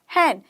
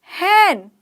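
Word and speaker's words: hen: भी बोल सकते हैं कैसे बोलोगे हैन हैन हैन हेन नहीं बड़े ए की मात्रा हैन हैन मतलब मुर्गी हैन मतलब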